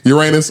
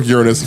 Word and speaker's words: Uranus: Uranus or Uranus, depending on what pronunciation you want to use, which is the god of the heavens.